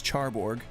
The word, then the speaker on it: Charborg: Like, because one of my favorite YouTubers currently making content, his name is Charborg. Shout out to his channel, CHARBORG, but it's spelled CHRBRG.